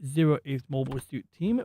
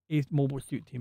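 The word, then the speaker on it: 08th MS Team: So for anybody interested, that one is Mobile Suit Gundam 8th Mobile Suit Team, which I've always pronounced it 08th Mobile Suit Team, but apparently it is pronounced 8th Mobile Suit Team.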